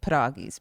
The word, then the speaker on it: pierogi: My husband likes to call them like sweet pierogies because it's a sour cream dough filled with whatever preserve.